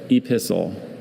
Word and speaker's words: epistle: Epistle, epistle. Epistle. May I have all the information, please? Certainly. Epistle or epistle are the two pronunciations.